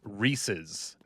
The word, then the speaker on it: Reese's: Reysi. Reysi. It's It's Reese's. Reese's. Reese's. It's It's an It Reese. It's the name Reys and then it is possessive with an apostrophe s. It is Reese. So, who is Reys?